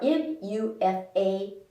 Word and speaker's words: MUFA: which are which are m-u-f-a which i say is a mufa there's polyunsaturated fats which